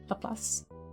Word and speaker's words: Laplace: Is that how you pronounce Laplace? Yeah, Laplace.